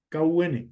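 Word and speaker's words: כּוּן: ordenados viene el hebreo Kun K un así se pronuncia Kun y se puede traducir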